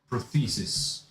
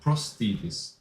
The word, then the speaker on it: prosthesis: Prothesis. No, prosthesis.